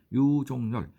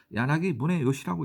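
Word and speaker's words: 柳宗悦: 이 사람 이름이 유종렬. 일본말로 야나기 문해요시라고 읽습니다.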